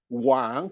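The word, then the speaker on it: 往: homophone with another word, Wang, pronounced at the third tone. Wang king is pronounced at the second tone. And Wang, the other one, to be attracted, because Wang at the third tone means towards, meaning you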